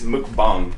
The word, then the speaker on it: mukbang: Is it pronounced mukbang? It's mukbang.